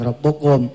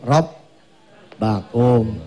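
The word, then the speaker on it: رَبَّكُمْ: Takfiru, bukan rabbukum, rob bakum.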